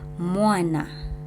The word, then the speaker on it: mwana: But here, M is not a syllable alone. So mwana, mwana. So it's not mwana, it's mwana, right?